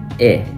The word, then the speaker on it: へ: as a particle Direction marker it's um it's pronounced as e uh that's kind of complicated but um it's